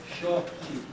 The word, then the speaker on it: Xochitl: They all pronounce it differently. Xochitl, Chochi, Xochitl, but now it is Shochi.